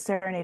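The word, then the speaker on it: Saranaide: So, but Serenade is spelled S A R A N A I D E.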